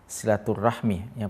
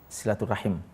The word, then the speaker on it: silaturahim: kita dikenal sebagai "rahmi"; Kita sering mendengar "silaturahmi, " padahal kata dasarnya dalam bahasa Arab adalah "silaturahim," dan ini terjadi pada beberapa kata dalam bahasa Indonesia di mana pengucapannya berubah ketika diadopsi, misalnya, "mahram," yaitu orang yang tidak dapat dinikahi.